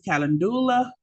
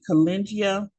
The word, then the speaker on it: calendula: Um, Many people pronounce this calendula, but many people also pronounce it calengia. Okay. And from the pronunciation, I really like calengia. That's how I've always been pronouncing it.